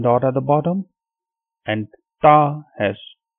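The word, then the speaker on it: ت: And the other one, it has 2 dots on top and it is called Ta, Ta.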